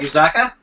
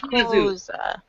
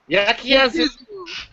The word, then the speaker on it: Yakuza: It's pronounced Yakuza. Yakuza. Yakuza. Just think of it this way. Start saying Yahoo, but say Yaku. Yakuza.